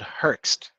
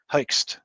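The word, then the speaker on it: Hoechst: if a specific recommendation there is a guy called herxed it's difficult to to pronounce uh but it's spelled h o e c h s t Heist and uh this is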